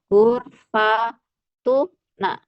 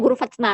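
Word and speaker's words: غرفتنا: Nah, kayak gini gurfatuna ini bacanya gurfatna. Kenapa? Karena mereka tidak suka tu gurfat tuna empat ya kan. A pasti ada di sukun satunya. Yang disukun adalah sebelum si menjadi gurfatna.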